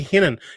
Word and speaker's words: Renan: But they were calling him Renan Lodi. It should be Hinan, like Hinan Brow, the fighter they used to be. He's from Brazil.